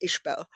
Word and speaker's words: Iseabail: So Mm, Ishbel, it's pronounced the same, the Gaelic mm. spelling, but it's uh, anyone who isn't familiar with Gaelic wouldn't know that Iseabail was pronounced Ishbel.